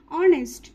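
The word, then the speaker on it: honest: নেক্সট হি is dash অনেস্ট ম্যান এখানে উচ্চারণের ক্ষেত্রেও কিন্তু আমরা হনেস্ট বলছি না কি বলছি না অনেস্ট তো এখানে কি আসছে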